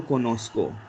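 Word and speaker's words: conozco: So this is what konoko, because co sound is ko. So in order to pronounce so sound, we have to insert z here over here. So yo konosko.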